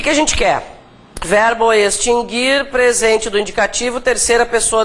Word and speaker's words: extinguir: quando nós vimos acentuação esse verbo se pronuncia assim mesmo né extinguir por que que eu estou falando sobre isso porque várias pessoas dizem extinguir É e tem outro que sofre desse mal isso não tem nada a ver com forma ortográfica né gente esses dois verbos nunca tiveram trema porque o u nunca foi pronunciado mas Há muitas